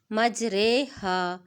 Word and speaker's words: مجریہا: کو امالہ کہتے ہیں۔ امالہ کی را کو اردو کے لفظ قطرے کی را کی طرح پڑھیں گے، یعنی ری نہیں پڑھیں گے۔ امالہ والی را کے